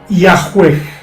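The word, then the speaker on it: Yahvé: español por esta circunstancia la pronunciación original del nombre de Dios desde el tiempo hebreo no puede establecerse aún con exactitud los eruditos modernos conjeturan que originalmente se pronunciaba yue Aunque en estos tiempos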